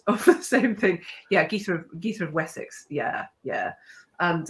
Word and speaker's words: Gytha: start of the show thank you Ross it's geetha um do you think there's a cool name